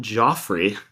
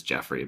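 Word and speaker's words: Geoffrey: Spock then discovers that Captain Sean Joffrey, actually it's Jeffrey, but it's spelled Joffrey, Christopher, the pilot's as yet unborn son, will lead an important expedition to space.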